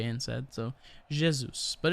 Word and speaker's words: Jesus: It would be Jesus, but of course Jesus. you don't need to. It's a very light G. It's like you're almost combining an SH with a J instead. So Jesus, but it's all good.